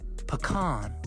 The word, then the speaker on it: pecan: If you're going to say it, you say it right. Pecan. Like butter pecan.